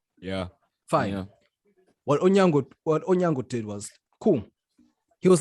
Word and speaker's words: Onyango: I don't want to get this man's surname wrong. Onyama. Yeah, Onyama, yeah. Yes. Onyango, my bad.